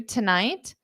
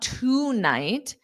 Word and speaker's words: tonight: for two for two tonight T tonight d da so it's not toight it's t Tonight Tonight Tonight d da tonight around